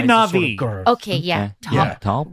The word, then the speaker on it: Na'vi: Big say Navi. Sort of okay, yeah. Tall. Yeah, tall, blue. Am I pronouncing that correctly, or is it not? No, not Navi. Navi.